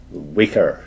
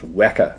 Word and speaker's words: Weka: about the pronunciation of the word Wacker it's called Wacker we don't like calling it weaker system it's not weaker it's wer pronounced to rhyme with Mecca that's the name of